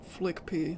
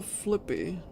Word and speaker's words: Flippy: to do that's how that's how people pronounce it flick pee that's how they pronounce it in videos stop calling him that it's still flippy it's just the mentally